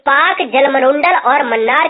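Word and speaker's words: Palk: के नाम से और यह पाक जलसंधि पाकिस्तान वाला नहीं है ये पाक को हम बात कहते हैं ठीक है ना इसमें साइलेंट होता है यह रेखा 1914 में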